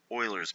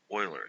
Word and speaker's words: Euler: BC Calculus, Lesson 7.1, Slope Fields and Euler's Method. And yes, that's pronounced Euler, not Euler.